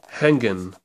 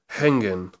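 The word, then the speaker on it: hängen: is I think uh that's hongan or hangan I'm not quite sure that letter there if you don't know you go over to the pronunciation guide and you look at it similar to a German e or an English e e e so it's e e hangan hangan there we go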